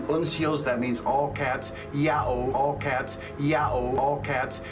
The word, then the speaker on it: Ya'oh: James Charlesworth was shown the inscription, he immediately and without the slightest hesitation said this word is to be pronounced Yao. All right, I can read Yao.